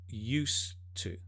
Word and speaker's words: used to: Notice pronunciation, used to. It's not used to. No, although it's written like that, it's used to.